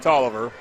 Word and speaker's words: Taliaferro: It is pronounced Tolliver, but that looks like Taliaferro.